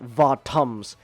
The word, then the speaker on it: Votoms: they pronounce the vot they pronounce it votms with like votams in in like the the anime and stuff over there in Japan and it sounds like bottoms and then like the